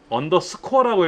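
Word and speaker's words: underscore: 얘는 언더라인이라고 안 읽어요. 언더스코어라고 읽어요.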